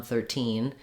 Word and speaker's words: thirteen: 30 and 13 then i'm clearly stressing on 13 and i'll use that true t sound if i'm saying i